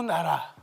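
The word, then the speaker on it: 奈良: 나라현의 나라 시라고 있습니다 나라 우리나라 한국으로 우리나라 그런 뜻을 가진 나라입니다 바로 여기이 나라라고 읽습니다 나라 아 이것을 우리말로 읽을 때는 나량 또는 내량 읽습니다 어찌나 어찌 내입니다 그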